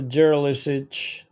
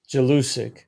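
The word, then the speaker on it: Jelusick: Yeah, so it's Marco Mendoza, Dino Jeralisic. Yeah. I pronounced that wrong. Jalusic.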